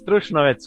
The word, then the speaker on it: Trušnovec: In this episode, I have Trušnovec. Did I pronounce that right? Yeah, it's Trušnovec, quite right.